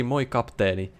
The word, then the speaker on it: Moi, kapteeni: No Finnish person would say it like that. If they said... Hi, Captain, they would say Moi, Kapteeni.